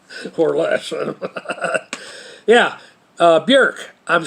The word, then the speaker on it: Björk: Although sometimes it thinks that you're saying New York, or even if you try to say it right, Björk, with an irk sound, it still thinks you're saying New York or Buick.